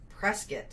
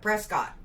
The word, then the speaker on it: Prescott: I still call it Prescott. Because there is no I. Prescott.